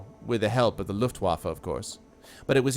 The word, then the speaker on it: Luftwaffe: That is how you pronounce it, is the Luftwaffe. It is how you pronounce it. Not waffle. You do pronounce it Luftwaffe.